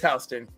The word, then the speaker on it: Houston: Of course, it's spelled Houston, but it's Hston.